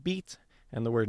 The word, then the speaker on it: bite: And so for a couple examples here uh in middle English the word bite would be pronounced beat and the word meat would be pronounced mate.